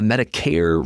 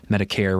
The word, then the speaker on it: Medicare: Well, Medicare rhymes with hair, as in it's meant for people with no hair or white hair. It's for people who are 65 plus. Medicaid rhymes with paid. Medicare rhymes with hair.